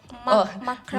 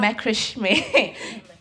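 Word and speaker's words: macramé: wait, how to pronounce it? Macram. Macrame.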